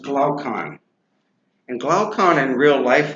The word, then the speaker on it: Glaucon: Um, this person, Glaucon, uh, that is pronounced Glaucon.